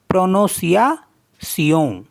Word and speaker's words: prononciation: और next word है PRONONCIATION, तो PRO को पढ़ेंगे प्रो, प्रो, NON को पढ़ेंगे नो, प्रोनो, CIA को पढ़ेंगे सिया, प्रोनोसिया सियों, तो प्रोनोसियासियों, प्रोनाउंसिएशन, उच्चारण।